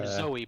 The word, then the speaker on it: Zooey: i'll try nasty again because she pronounces her name zoey but there's two o's so how would you